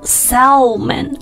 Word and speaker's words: salmon: 给大家来拼写一下 S-A-L-M-O-N. 但是呢，它不读 salmon, 而读成 salmon.